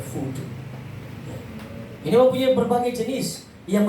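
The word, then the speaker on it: voodoo: fodu fodu fodu fodu ya habis tulisannya fodo v o o d o o Tapi bacanya fudu ini mempunyai berbagai jenis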